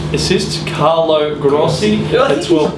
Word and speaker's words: Carlo Grossi: How would you pronounce his name if you were over in Italy? Carlo Grossi.